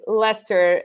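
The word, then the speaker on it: Leicester: like it's it's very very odd how to pronounce like things like lester as in late jester or uh pronounce things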